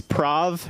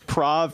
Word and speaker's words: Prav: So my name is Prav. It's like Providence without the idents. My friend was like, you should go by Prav as in rhymes with suave.